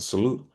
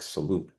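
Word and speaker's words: XALute: x al- t but it's kind of pronounced like salute Um um it discusses it's again for for men with advanced prostate cancer with metastatic castration resistant uh disease.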